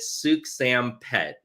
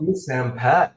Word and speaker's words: Souksenphet: So think of the word like soup, like a chicken noodle soup or tomato soup, and the name Sam, like Sam I am, and then like a pet cat or a pet dog. So you pronounce it Souksenphet.